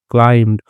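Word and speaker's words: climbed: ऊंचा उड़ा the snake क्लाइम्ड और जो स्नेक है सांप जो है वह क्लाइम ठीक है तो भी साइलेंट हो जाता है क्लाइम्ड तो वो चढ़ा ऊपर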